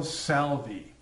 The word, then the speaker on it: salve: Today we're making a video on the yellow salvi. Special pronunciation there.